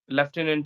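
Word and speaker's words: lieutenant: spelling is entirely opposite and left inant yes leftenant is there and I have memorized various words like monk we mispronounce we say that Monk and yes that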